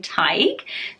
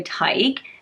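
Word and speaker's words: Tadhg: Scrabble this one but it's pronounced basically like Tiger without the ER so Tyco let me know if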